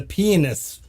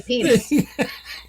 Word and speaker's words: pianist: I say Pianist? pianist. I don't say penis.